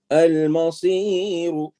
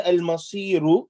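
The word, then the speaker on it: المصير: Al-Masiru. If you stop, you don't say Al-Masiru, you say Al-Masir. Al-Masir. You cancel this and you change it with the sukoon.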